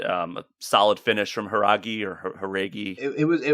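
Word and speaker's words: Jauregui: very first fight Yasmin they were saying haragi as the way to pronounce her last name okay so Yasmine haregi I thought she looked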